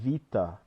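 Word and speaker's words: βήτα: in Greek like Alpha Vita it's not beta it's Vita Rama not gamma it's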